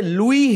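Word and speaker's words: Louis: यह जो है ना यह लुई है य लुई Braille French लुई Braille वास द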